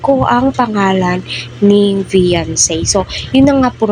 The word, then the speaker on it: Veancy: daw po ni Vice Ganda itong si vian vian po talaga ung pagkabigkas po niya doon sa It's Showtime So